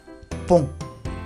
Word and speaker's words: pont: Otro caso es O más N, que es igual, que se pronuncia on. Muy nasal ese, muy nasal. On. On. Pareciera que el sonido sale de la nariz. On. En realidad resuena en la nariz. On. Por ejemplo, un pont.